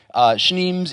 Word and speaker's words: Schneems: Schneems is pronounced like schnapps.